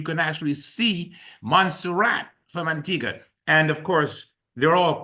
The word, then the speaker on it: Antigua: We frequently give away trips, as we did tonight, to the island of Antigga, but when you look at it, it looks like it's Antigua. It's spelled that way.